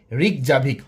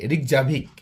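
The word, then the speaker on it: Reykjavik: আইসল্যান্ডের রাজধানী রিকজাভিক। অবশ্যই আপনি বানানটা মনে রাখবেন। আর ই ওয়াই কে জে এ ভি আই কে। রিকজাভিক।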